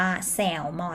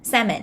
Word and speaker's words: salmon: อยู่ เนาะ เรา จะ ไม่ ออก เสียง ว่า แซลมอน นะ คะ อัน นี้ ตัว L เป็น แสง ใส่ เล่น นะ คะ ก็ คือ ไม่ ออก เสียง แล้ว เสียง ว่า แซ่บ salmon นะ คะ สระะ ข้าง หน้า แล้ว ก็ สลับ